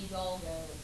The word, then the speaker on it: Hidalgo: And it's the Treaty of Guadalupe Hidalgo, which yes, is very hard for me to say. Okay, so. I'll just go ahead and say something like this. That's how you pronounce it, that H is silent.